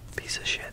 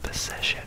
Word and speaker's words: Phoenician: It's all about the syllable that you stress there. Phoenician, not Phoenician.